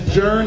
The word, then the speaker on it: Jern: His name is Ryan Mann of Jern Financials. That is Jern as it rhymes with earn.